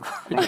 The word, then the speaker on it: griot: Yeah, no, that's riot and griot, I guess. Riot and griot? Yes, that's Well done. Pronounced griot, but we'll take it.